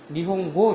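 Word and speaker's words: 日本語: 니치고라는 단어가 없어요. 일본 사람한테 이야기할 때는 니치고가 아니고 반드시 니홍고 이렇게 얘기를 하세요.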